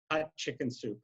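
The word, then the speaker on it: Hatshepsut: pronounce it better and he just says queen hot chicken soup and that's how we pronounce it the queen hot chicken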